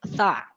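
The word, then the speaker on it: ث: Itu huruf tha. Cara pengucapannya itu tipis. Ujung lidah itu diletakkan di ujung gigi atau di antara gigi atas dan gigi bawah. Tha.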